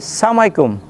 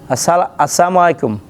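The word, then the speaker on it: السلام عليكم: উচ্চারণ শুদ্ধ করতে গিয়ে আমরা কিভাবে সালাম দেই সালামু আলাইকুম বা সালামু আলাইকুম এই সালাম এটা রাসূল সাল্লাল্লাহু আলাইহি ওয়াসাল্লাম বলছেন এই সালাম দেওয়া এটা হলো অভিশপ্ত সালাম আসসালামু আলাইকুম এটা হলো তোমার উপরে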